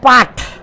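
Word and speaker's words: put: না ওস্তাদজি এটা হচ্ছে পাট কি হয় পাঠ হয় না পুট হয় উচ্চারণটা পুট তো বিউটি যদি বাট হয় তাহলে পি ইউটি পাঠ হবে না তো কেন পি ইউটি পুট বলে মানুষে আপনারা জানা নিবেন এটা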